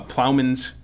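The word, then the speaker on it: ploughman's: one I'm going to have trouble with uh plowman's Feast would you pronounce it that way um what's the reason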